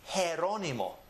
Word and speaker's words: Jerónimo: Even my name can be spelt with a G, and it's pronounced Jerónimo.